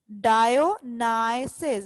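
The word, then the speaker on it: Dionysus: डायोनाइसिस, the word is डायोनाइसिस। इसको एक बार फिर से देख लेते हैं। डायो, इधर तक आपने इसको कैसे प्रोनाउंस करना है, डायो, और यहाँ नाइसिस, डायोनाइसिस।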